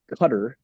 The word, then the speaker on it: Qatar: And we're making these treaties with Middle Eastern, predominantly Islamic countries, such as Qatar, which is how I've heard it's pronounced, where they can train their Air Force pilots in Idaho now.